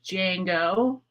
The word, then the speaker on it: Django: my dog's name is Django like uh Django Unchained or Django Reinhardt if you're familiar with him um the D is silent he's an old guy he's 12.